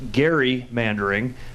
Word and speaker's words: gerrymandering: I'm a history buff that's a mispronunciation of the word it should actually be pronounced Gary man during because 203 years ago Elbridge Gerry the governor of Massachusetts